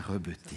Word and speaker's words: Rebetez: Que ça soit dit, c'est Alain Rebeté.